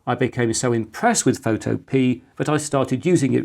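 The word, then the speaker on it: Photopea: my own Computing activities this year was this photo P an online Photoshop alternative available in both free and paid versions and which is pronounced photo p and not photo Pier back in May I tested every credible browser-based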